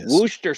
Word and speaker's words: Worcestershire: You have to snort half a ball of Worcestershire sauce. Nice, great pronunciation. Thanks. That one's always been a tough one. It is. Worcester sauce.